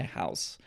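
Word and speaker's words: Houzz: found in this article by house okay uh and that was spelled h o u z z not only could they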